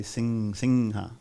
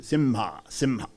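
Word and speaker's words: सिंह: in the Bengal region, the Anushwara will be pronounced like That's why you hear people say singha, right? Some people in South, sometimes say simha. So either way, no problem.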